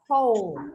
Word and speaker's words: whole: Because I have here the word, how do I pronounce this one? Whole, right?